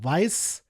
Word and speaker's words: Weisz: Lead is Rachel Weisz. I think it's it with the V, I believe is how you pronounce that.